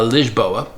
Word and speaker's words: Lisboa: Now, it is an issue here in uh Lisboa, which is how they pronounce Lisbon, there is a moratorum on new um rental apartments, short-term rentals.